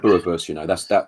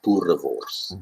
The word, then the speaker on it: boerewors: I've tried boerewors. That for me is delicious. That's a sausage almost, isn't it? But with a very distinct flavour. Yeah, and roll your R's. Say boerewors.